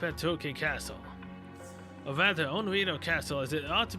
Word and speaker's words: Onriedo: Onriedo Castle? Onriedo. Paraiso mentioned that I suppose the last part does rhyme with Edo Castle.